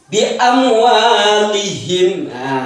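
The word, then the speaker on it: بِأَمْوَالِهِمْ: Huruf mimnya itu tidak boleh ditahan. Jadi bi'am walihim, bukan bi'am walihim, itu menjadi salah.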